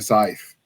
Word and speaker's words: scythe: and often carrying a scythe. And yes, I realize that word is weird and it does not pronounce like it should if you read it phonetically.